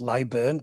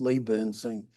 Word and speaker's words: Leyburn: Leeburn. Ah. Well, you see, I've never been there. Yeah. I always used to call it Leburn, but then the um I got picked up by the locals.